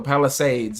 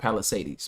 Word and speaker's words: Palisades: So, Palisades is how you say it, not Palisades.